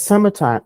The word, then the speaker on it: summertime: Esse E não é pronunciado, correto? Esse, então, summertime, termina com M.